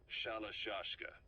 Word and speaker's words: Shalashka: Someone must have known about that because somewhere along the line, Shashka got stuck on the end of Sharashka. The gorillas were using the name amongst themselves. By the time I got to hearing about it, pronunciation had wound up as Shalashka.